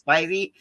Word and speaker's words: Spivey: once if it was Spivey, and Spivey told me it's Spivey, like Ivy.